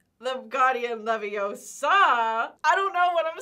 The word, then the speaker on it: Leviosa: You're saying it wrong. It's Leviosa, not Leviosa. I had to know that.